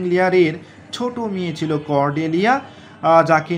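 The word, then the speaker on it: Lear: করডেলিয়া তার বাবা কিং লিয়ারকে উদ্ধার করার জন্য এসেছিল আপনাদের মধ্যে অনেকেই জানেন তাহলে এটিকে মনে রাখবো কি হবে লিয়া দেখুন লিয়ার উচ্চারণ করার সময় কিন্তু আর উচ্চারণ হয় না রাইট লিয়া দেখুন করডেলিয়া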